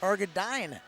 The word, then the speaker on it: Hargadine: It's actually pronounced Hargadine. Is it really? So we're going to go dining with Wyatt today.